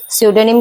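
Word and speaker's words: pseudonym: उसको हम बन बन में कहते हैं सडम सोनिम कहते हैं यह स्पेलिंग एरर में बहुत ज्यादा पूछा जाता है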